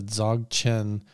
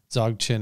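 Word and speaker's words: Dzogchen: a lot it's a dog chin method dog chin is dzo g CH en is how you spell it if you're interested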